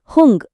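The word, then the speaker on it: हूँ: மே யூஸ் பண்ணி ஒரு வாக்கியம் தொடங்குனா அது ஹுங் அப்படின்னு தான் முடியணும். அதே ஹம் வந்தா ஹைங் அப்படின்னு முடியணும். இந்த ஹுங் ஹைங் சொல்லும்போது கொஞ்சம் நேசல் சவுண்ட், அதாவது அந்த மூக்கு ஒலியோட உச்சரிக்கிறது ரொம்ப முக்கியம். இப்போ நான் உங்களுக்கு ஒரு சூப்பர் ட்ரிக் சொல்லித்தரேன்.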